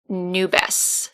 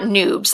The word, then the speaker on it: nubes: were telling me that it's nubes nubes it's not noobs let's just say that